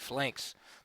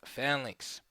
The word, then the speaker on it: phalanx: to explain what the Fink is some people pronounce it flanks but it's uh pronounced fallinks okay and what is a PHX the PHX